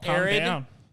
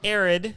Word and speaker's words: Arid: my hand uh called arid it's on steam spell that for a r id or aaron like an arid desert okay uh it's cool